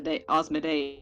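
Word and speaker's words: Asmodeus: an o in seven a yeah so it's pronounced as an o but it's spelling it instead of uh asthma osmoday yes yeah there you go yeah that's that's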